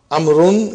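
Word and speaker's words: عمرو: As you can see, the proper name Amrun is written with waw, which is not pronounced.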